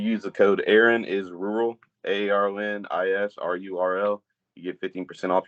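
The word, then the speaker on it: RURL: sponsorship with a brand rural around the area r-u-r-l it's pronounced rural but without the a and uh they have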